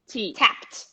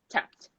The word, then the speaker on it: tapped: here yeah so yeah the pronunciation tap no vibration tap tap go ignore the e straight to t tapped tapped everyone repeat with me